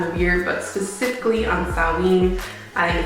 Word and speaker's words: Samhain: And yes, I said Samhain because that is how it's spelled, and don't argue with me.